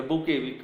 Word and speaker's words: bouquet: The T is silent. The bouquet, we call it as a bouquet of flowers.